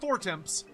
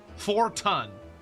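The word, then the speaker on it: Fortemps: I see it cuzz I know it's not for temps is it forto forto that's a brick with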